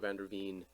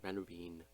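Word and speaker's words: van der Veen: president's position my position I've been saying his name wrong Michael vanderveen that vendor whatever I was saying earlier Vander Bean my bad that was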